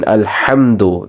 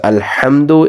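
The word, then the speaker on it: الحمد: is a different ha the difference between these two ha's sounding is the first one which is alhamdu is a lighter sound which you pronounce or make when you're cleaning a glass or your glasses if you wear glasses when you clean them it is that sort of sound so this one is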